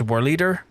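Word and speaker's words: Whorleater: Apparently, it's pronounced Whorl Eater.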